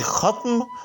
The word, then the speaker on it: ختم: سن لیجیے گا کہ ختم، نرم اور گرم یہ تین الفاظ جو ہیں یہ فا یا فعل کے وزن پر ہیں، یعنی ان کا درمیانی حرف جو ہے وہ ساکن ہے، لیکن احباب اس کو